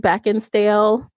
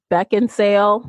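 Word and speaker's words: Beckinsale: so I picked Kate beckinsdale um I think I mispronounced her name back in sale there we go yeah yeah there's no D in there um so I just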